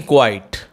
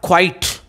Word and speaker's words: quiet: So we are studying today poem Keeping Quiet.